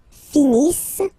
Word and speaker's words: finissent: Ils finissent. So remember, as usual, when we get the verbs E and T not pronounced. Ils finissent.